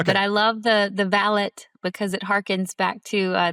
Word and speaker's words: Valet: Um, so what's the what's the best way to pronounce your company name? It's Valet. It's valet, but I love the the valet because it hearkens back to the English um